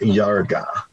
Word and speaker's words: Iarga: But it's pronounced Yarga. Yeah, Yarga, UFO contact from planet Yarga.